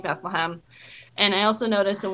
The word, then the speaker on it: Bethlehem: Bethlehem no longer it's Bethlehem, it's Bethlehem. It's like, oh, little town of Bethlehem. And I'm like, it's not E, and there's not a ham, it's hem.